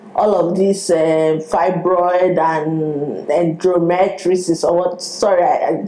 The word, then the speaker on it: endometriosis: Me, in my head, I was even thinking, okay, maybe all of this fibroid and endometriosis, or what? Sorry, I mispronounced the endomet.